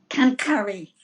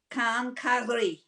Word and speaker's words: quincaillerie: So we've got the French word quincaillerie that you have to pronounce. Cancari.